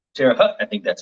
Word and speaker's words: Terre Haute: Terre Haute. Terre Haute. Terre Haute. I think that's how you pronounce it in Indiana.